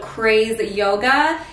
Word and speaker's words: CRZ Yoga: is from an Amazon brand called craze yoga it's spelled CRZ yoga I got everything in